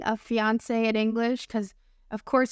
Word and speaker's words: fiancé: French language, fiance and fiancé. And if you're wondering whether or not these two words have different pronunciations, the answer is no.